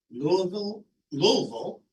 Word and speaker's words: Louisville: I attended the American Association of Community Colleges Conference in Louisville, Kentucky, to say it correctly.